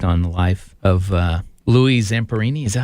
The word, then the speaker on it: Zamperini: A great movie, actually 2 movies, true story based on the life of Louis Zamperini, is that how you say his name?